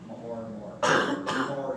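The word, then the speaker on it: Meagher: Fight against 24th Georgia and the Mahar Brigade, Mahar Brigade. Mahar Brigade, as it's pronounced.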